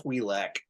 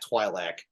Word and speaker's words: Twi'lek: more inflection, or no, it's pronounced Twi'lek and not Twi'lek, and so then and